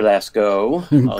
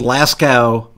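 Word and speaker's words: Laskow: i am doing great mr lasko great pronunciation correct that's all right don't worry about it believe me i've i've had i've been called last cow more times than lasko and of course in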